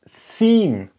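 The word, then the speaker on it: שׂין: later again so this this one is not called Shen but it's called sinen okay you see if you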